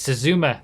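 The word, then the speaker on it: Suzume: It's Suzuma. That's how you pronounce it. meh at the end of it because it's a very meh supercar like all the other supercars I get out of these days.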